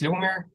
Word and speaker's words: Lyubomir: as you said yes my name is lumir it's kind of hard to pronounce but the short version is lubo and uh co-founder and